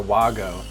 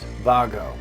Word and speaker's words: WAGO: sometimes pronounced wo or Wago the name of this company is actually pronounced Vago I know because I